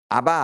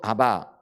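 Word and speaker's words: אבא: 보이는 거잖아요 이제 그렇듯이 히브리어도 아바 요거를 이제 제대로 발음하면 면 우리나라 아빠라 말과 비슷하다라는 거예요 여러분 요게 우리가 어 아빠라 그러니까 우리나라 말 아빠 맞는 말이기도 하는데요 원래 히브리어의이 발음이 희한하게도 아빠예요 근데 그게 아빠 우리나라말로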